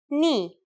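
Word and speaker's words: nu: Knee. Yes. Pronounced just like the knee on your leg. Its sound in Greek is M.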